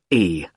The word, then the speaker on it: Carlisle: It's Carlisle. You don't pronounce the S.